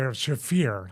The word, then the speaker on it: Marina Shafir: I'll say it, Shafir. I said it wrong last episode.